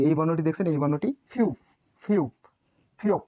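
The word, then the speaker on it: 피읖: ফিউপের উচ্চারণ প্রথমে থাকলে ফ, মাঝে থাকলেও ফ, নিচে থাকলে প।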